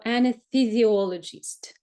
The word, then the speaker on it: anesthesiologist: The next, that our anesthesiologist. Anesthesiologist. Let me give you some tip how to pronounce these words.